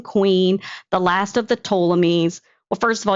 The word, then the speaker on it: Ptolemies: the last of the Ptolemies, Well, first of all, you can't even pronounce Ptolemies. It starts with the letter P.